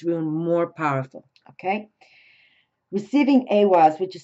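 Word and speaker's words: Ehwaz: is makes this Rune more powerful okay receiving awas which is spelled EI i h w a z receiving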